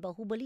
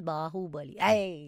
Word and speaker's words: Baahubali: again no no no it is not baahubali it is baahubali go away you can't